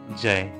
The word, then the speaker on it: जय: तो इसका सही जो उच्चारण होता है और सही जो लिखावट है वो है ये जय।